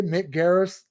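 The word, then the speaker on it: Mick Garris: to see if you can I say okay Mick Garis correct said it correctly I think it's uh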